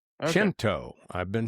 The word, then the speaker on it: Cento: I've been mispronouncing the brand of tomatoes for all these years. It's Cento. Cento. Okay. Cento.